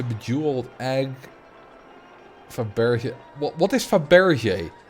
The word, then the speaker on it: Fabergé: What is Fabergé? I think it's called Fabergé because it had like a little accent on the E. That's why I'm pronouncing it like that.